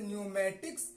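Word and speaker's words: pneumatics: कहां क साइलेंट होगा ए से पहले अगर प आता है तो साइलेंट होगा जैसे न्यूमेटिक्स जिसका माने होता वायु शस्त्र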